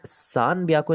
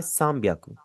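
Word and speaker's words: 三百: और एक चीज यह भी है कि यहां पर आप इसे सान बियाकू नहीं पढ़ेंगे क्योंकि एन के आगे डायरेक्टली बी आ रहा है। आप इसे पढ़ेंगे सामियाकू।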